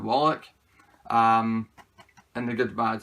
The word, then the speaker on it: Wallach: I used to say Walsh, but I know it's not now. Is it Wallach?